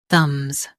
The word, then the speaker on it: thumbs: The B is silent.